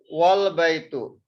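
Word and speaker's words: والبيت: house is pronounced as wal-baytu. Okay, so you see here, the second is wal-baytu. Wal-baytu, there is waw and there is al-baytu. In this case, we will not pronounce this alif.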